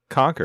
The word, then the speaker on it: Concord: Conquered. That's spelled C O N C O D.